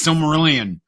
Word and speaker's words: Silmarillion: How can you not pronounce that? It's Silmarillion.